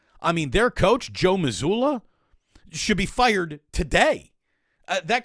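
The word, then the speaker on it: Mazzulla: how to motivate his team better than Joe muzola doesn't we don't need to learn how to pronounce that no it's Joe Missoula it's just it ain't happening Joe what was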